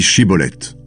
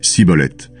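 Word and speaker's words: Shibboleth: « Eh bien, dis Shiboleth ». L'homme dit Siboleth, parce qu'il n'arrive pas à bien prononcer ce mot.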